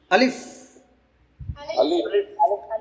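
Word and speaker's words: ألف: যখন আমরা উচ্চারণ করব শেষে দেখেন এফ যে বলি না এফ উপরের দাঁত নিচের ঠোঁটের সাথে লেগে একটু বাতাসে আসবে আলিফ আলিফ আলিফ আলিফ আলিফ আলিফ আলিফ আলিফ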